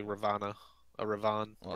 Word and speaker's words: Ravana: Do not pronounce the last A.